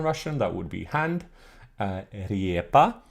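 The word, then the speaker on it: рѣпа: Riepa, with the yat, which was still pronounced like an iye at this time. It wasn't like the modern Russian ye sound.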